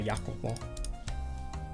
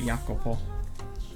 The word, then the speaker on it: Jacopo: So it looks like um the J is a Y. This is an Italian name apparently. So I'm just going to pronounce it like this. So, Yakopo because apparently that's kind of how you do it.